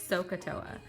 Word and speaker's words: SOHCAHTOA: so CUH Toa and you just pronounce that like it says sohcahtoa so to remember your